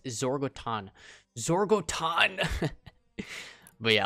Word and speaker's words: Zorgoton: this new style for zorga Tron there's this or Target throw baton sorry but I keep saying it wrong bro it's Zoar goat on zorg Oh Todd oh